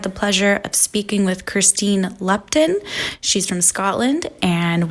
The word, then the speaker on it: Kirsteen: of all I want to know if I'm pronouncing your name correctly okay let's eat it how did you say it sorry Christine yes yes oh my goodness did you get